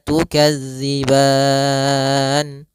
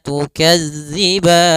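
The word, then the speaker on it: تُكَذِّبَانِ: Maka tukadziban empat harakat saja. Baru dimatikan nunnya dengan sempurna. Fabiayyi alai rabbikuma tukadziban.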